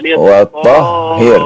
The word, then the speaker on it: وَطَهِّرْ: Wattahhir, ulang lagi. Tasdidnya pada huruf H ya.